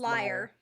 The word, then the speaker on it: lyrebird: bit about liarberries or leer birds is it what's an instrument pronounced is it leer or liar i think it's liar and what kind of